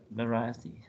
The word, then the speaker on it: variety: Oh, variety. Variety. Right. Variety. The strike on syllable 2.